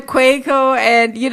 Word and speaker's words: Quaco: Your own brother, you're saying the name wrong. What kind of mess is this? What Brother kind of mess? Brother Quaco, and Quaco, like earthquake.